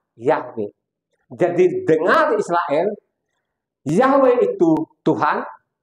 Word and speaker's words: Yahweh: tidak ganti juga ya tulisan asinya y w He ada t seanya di situ bacanya yahwe jadi dengar Israel itu